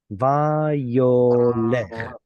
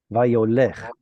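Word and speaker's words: וַיּוֹלֶךְ: That syllable right there produces what's called a diphthong, which means you're pronouncing multiple vowels in a row. And it's pronounced something like yow. Now that's kind of hard to pronounce. So in Hebrew, it's going to turn into yo. So instead of having a patach here and a shva there, you simply have a cholam there.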